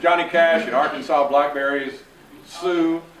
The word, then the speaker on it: Sioux: Cash and Arkansas blackberries, Sue, but then S-I-O-U-X, or however you spell Sue.